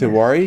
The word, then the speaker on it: Tewari: Is it Swapnil Yes, Tewari?